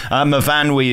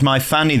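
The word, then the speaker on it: Myfanwy: Mavanwi is, of course, track 2. I heard somebody on the radio describe it as my fanny the other day. You don't necessarily read it as it's spelt, do you?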